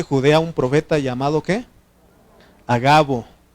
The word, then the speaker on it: Agabo: un profeta llamado qué a Gabo No hagabo porque no lleva acento en la Okay a Gabo quien viniendo a vernos